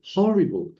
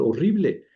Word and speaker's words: horrible: Horrible e dice igual que en español, se escribe igual que en español, horrible. Pero, ¿cómo suena horrible en inglés? Horrible. Horrible. Este, sí se pronuncia la H.